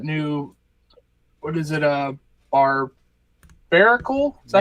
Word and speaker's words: Barbaracle: Uh Barbaracle. Is that how you say it? Yep. Barbarical and Teragon.